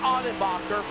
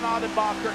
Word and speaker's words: Ottenbacher: figured it out samuel i've got a friend of mine in racing who is actually named john audenbacher as we're riding on board for him right now in 11. his name is john ottenbacher it's spelled exactly the same way but the he the